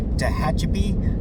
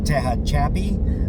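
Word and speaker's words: Tehachapi: So um the Kahome Pass McDonald's next one's going to be Tahachip. I've heard it pronounced Tahach Chappie.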